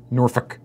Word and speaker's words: Norfolk: I believe it is pronounced Norfolk. Norfolk. Okay, forgive me, I am from Canada, and I saw all the letters arranged in the word and assumed that they were there for a reason, that you were supposed to say them all.